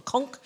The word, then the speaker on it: conch: It's called a conch, but the British say a conch.